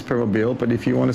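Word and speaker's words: Permobil: you know what it's we do have an official pronouncing of it I think it's permo uh I always pronounced as per mobile myself and then during the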